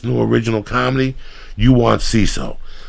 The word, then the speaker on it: Seeso: With CISO, it's your comedy.